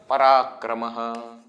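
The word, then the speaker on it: पराक्रमः: coming at the end, it is pronounced as Ha. Parakramaha. Isn't it? Why? Simple rule. This is a special rule. Why? If there is something in front, then the Visarga's pronunciation will change. If nothing is in front, it will remain Ha.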